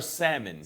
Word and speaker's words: salmon: You can have everywhere, some and salmon. Guac is Is on it salmon or salmon? salmon. The L is silent.